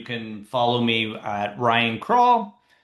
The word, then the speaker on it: Krull: But if you do want to follow me, you can follow me at Ryan Krull. It's spelled like scroll. but without the S.